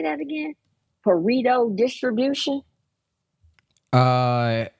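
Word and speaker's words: Pareto: created by how do you say that again parito distribution uh it's spelled pit y parito p a r e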